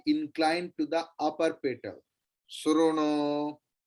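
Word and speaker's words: शृणु: Sruno, not Srunu. Your lips, if it comes like that, it will clearly pronounce U.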